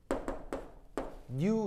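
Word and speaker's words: ν: 읽을 때 뭐라고 읽냐면 new 이렇게 읽으시면 돼요.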